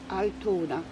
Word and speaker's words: Altona: My name is Altona. Altona. It's spelled A-L-T-O-N-A.